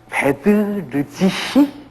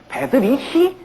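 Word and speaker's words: Bedřich: 베드르지히 스메타나입니다. 베드르지히 스메타나입니다. 우리가 그냥 독일어식으로 읽으려면 베드리히 스메타나. 어디가 틀립니까? R이 틀리죠. 베드리히가 아니라 베드르지히 스메타나입니다. R이 발음이 틀려요.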